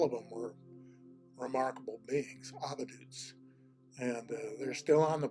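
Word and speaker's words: avadhut: In India, the term, when I was studying over there, was avadut. It's spelled A-V-A-D-H-U-T, avadut.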